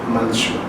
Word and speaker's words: manchmal: En la mayoría de las regiones de Alemania, en su mayoría, se pronuncia siempre manchmal, esa es la pronunciación correcta, y esto se les